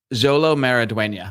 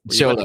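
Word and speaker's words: Xolo Maridueña: Jolo Maraduena. That's how I'm gonna say you pronounce it. But I don't think you're supposed to say. Yeah, no, it's Cholo.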